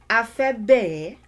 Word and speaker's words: A fẹ́ bẹ̀ ẹ́: This first one is pronounced afebe, afebe, afebe.